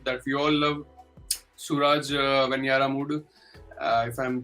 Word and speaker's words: Venjaramoodu: I'm sorry, Suraj and Venyaramoodu. Venjaramoodu. J is silent.